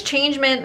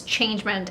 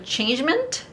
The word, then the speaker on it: changement: in france french so changement changement how would you if this was a french word changement how would you say it in french well first of all you wouldn't say mint oh really yeah oh